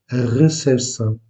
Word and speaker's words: recepção: Vous prononcez légèrement, presque de façon imperceptible le P, recepção.